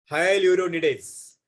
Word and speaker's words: hyaluronidase: कैन you pronounce this? Read कर सकते हो इसको आप लोग? बोलो बच्चों। सर Hyaluronidase. हाइल्यूरोनिडेज।